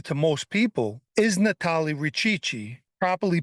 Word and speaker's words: Richichi: One name not so familiar to most people is Natale Richichi, properly pronounced as Richichi, and called Big Chris by his friends.